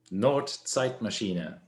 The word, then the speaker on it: Nordzeitmaschine: makes up for his German jokes, Ralph to pronounce the name correctly. Is this brand here? Go for it, Ralph. Nordzeitmaschine.